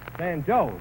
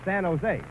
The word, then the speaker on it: San Jose: San Joe's? Now, wait a minute, Eddie. It's San Jose. In California, the J is pronounced like an H.